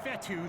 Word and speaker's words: Fetu: an excellent run so coach fetu spelled f Tu for the longest time I was pronouncing at coach feta like Feta cheese so let's just say